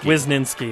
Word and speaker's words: Wisniewski: where he was ninth kwizninski is is exactly how you say it maroon fans starting